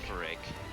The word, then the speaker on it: Girafarig: Oh, I'm thinking of Girafarig, but I can't pronounce it, so it's not actually Girafarig. Girafarig.